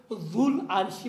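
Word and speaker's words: ذو العرش: भी साकिन है, और जब आप तलफ़ुज़ करेंगे तो ये वाव नहीं पढ़ा जाएगा। क्यों? लाम साकिन और वाव भी साकिन, इल्तिक़ाई साकिनैन होंगे। ख़ुद हमज़े वसल वसत कलाम में आने की वजह से साइलेंट होगा, जिसके नतीजे में इल्तिक़ाई साकिनैन होंगे। इस इल्तिक़ाई साकिनैन से बचने के लिए ये वाव नहीं पढ़ा जाएगा। क्या कहेंगे? ज़ुल अर्शी पढ़ेंगे, वाव भी नहीं पढ़ेंगे, हमज़े भी ज़ुल अर्शी, ज़ुल अर्शी।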